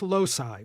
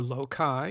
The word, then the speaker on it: loci: They're often referred to as loci, or loci, if you like the hard C version.